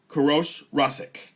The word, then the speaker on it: Koorosh Rasskeh: Koorosh Rasskeh.